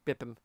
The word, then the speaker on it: Bippim: He's technically his name is technically pronounced Bippim, which is a play on Beats Per Minute to just kind of go for musical theme.